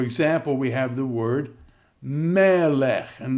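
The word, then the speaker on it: מֶלֶךְ: So for example, we have the word melech. And notice the accent is now on the syllable before the e. Melech.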